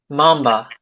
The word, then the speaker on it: mamba: So the Black Mamba? Mamba. Yeah, it's an A sound.